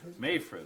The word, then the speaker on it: Mayfred: Uh we are also making uh adding is it Mayfred Drive? Mafford Drive. Mayfred. Mayfred.